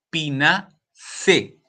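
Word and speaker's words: Pinaceae: Esto se pronuncia C. Pina C.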